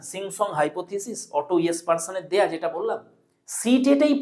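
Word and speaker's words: Jespersen: এটার যিনি প্রদাতা তিনি হচ্ছেন অটো ও ডাবল টি ও ইয়েসপারসন, লিখেছি জেসপারসন, উচ্চারণ হবে ইয়েসপারসন, অটো ইয়েসপারসন।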